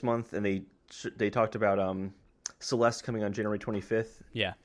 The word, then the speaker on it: Celeste: It does rhyme with molest. It's called, Oh my gosh. It's called Celeste, and it has nothing to do with molesting anyone.